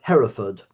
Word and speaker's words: Hereford: Do you call it Harford or Hford or how do you pronounce it? Heraford.